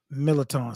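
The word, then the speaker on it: Mirliton: Millerton, stuffed millerton.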